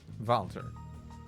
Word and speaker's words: Walter: The name's Walter. Valter. It's Trails. You never pronounce W as W in this game. You always pronounce it as V.